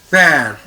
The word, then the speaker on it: père: Okay, tell me Aradha, how to pronounce this word? Pear. Pair.